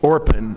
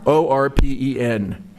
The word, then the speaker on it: Orpen: How did you spell that? William Warpen? Orpen, O-R-P-E-N, Orpen.